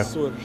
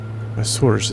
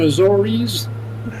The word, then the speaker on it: Açores: Açores. Well, what? Açores. Açores. Açores is apparently the correct pronunciation. It's not Azores.